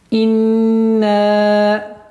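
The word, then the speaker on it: إِنَّا: Обращаем внимание на касру и на хамзу, чтобы она четко и ясно произносилась «и». Не «инна», «и». Нет. «И». «Ин». Назализация у нас в размере 2 огласовок. Удерживаем. «Инна». Удлинение в размере 4 огласовок.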